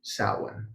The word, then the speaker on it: Samhain: Samhain, and it's spelled Samhain, Samhain.